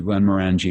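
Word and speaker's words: Glen Moray: the whiskey um so please I would like you to pronounce the name of that um that that particular Glen Mori thank you Glenn Mori because there's different ways that people say it yeah there's Glenn Mori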